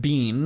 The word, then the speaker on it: been: this say the word you pronounce it bin B I N and when I first